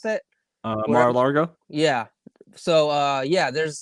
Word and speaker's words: Mar-a-Lago: this tournament is happening in uh malar malar malargo how do you pronounce that uh mar-a-lago yeah so uh yeah there's there's some weird